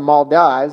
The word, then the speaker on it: Maldives: the maldives it kind of looks like it's pronounced the maldives it's the maldives it's a chain of islands